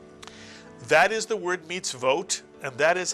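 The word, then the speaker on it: מצוות: with a dot over it is not the vowel O, but is in fact the syllable vo. How do you know? It follows a shva. And after a shva, the vav cannot be a vowel, but must be a letter, the letter V, the vav sound.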